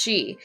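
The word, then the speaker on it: 四: The number 4 is pronounced she, the same as the word for death, and is considered very unlucky.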